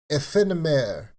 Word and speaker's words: Aephanemer: So, today, AEPHANEMER. AEPHANEMER. I'm French, so I'm going to say it in the French pronunciation because AEPHANEMER, because they're from France.